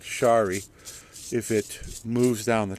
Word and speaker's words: Shari: sh dead wood on a bonai is called Shari If It Moves down the trunk if you're